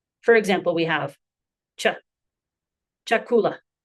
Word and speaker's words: chakula: Our next combined sound is cha as in the English cheek not chemist. For example, we have cha chakula chakula chach chach.